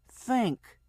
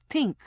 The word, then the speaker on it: think: "It's pronounced think. Tink. Think." "That is what I said. Tink."